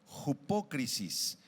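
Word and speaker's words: ὑπόκρισις: Hipocrisis con acento en la o. Hipócrisis.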